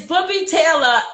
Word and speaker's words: Booby Taylor: It's Booby Taylor, but everybody does say it different, and I enjoy how people say it because everybody's always close, but your accent would make it sound like how you say it.